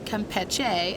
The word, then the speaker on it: Campeche: And this is a Campeche angel wing. or the Spanish pronunciation Campeche, as in Campeche, Mexico.